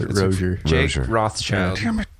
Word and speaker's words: Rozier: It's like Frasier, but Rozier.